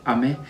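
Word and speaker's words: 雨: and this this is ame and this is ame so they are almost same pronunciation but meaning of each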